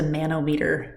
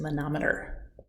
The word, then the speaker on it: manometer: measurements using a manometer that's not pronounced a nanometer it's a manometer you should be able